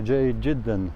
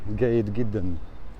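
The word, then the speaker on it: جيد جدا: In Jordan, they say Jayid Jiddan, very good. Here in Egypt, they say Gayid Giddan.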